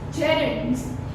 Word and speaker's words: gerunds: word, this is Gerunds, gerunds. But you don't have to speak over here D. Over here the D is silent. So you will speak as gerunds. D you will not pronounce.